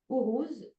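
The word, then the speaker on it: Uruz: rune s'appelle our Rous u se prononce ourous c'est l'énergie pour relever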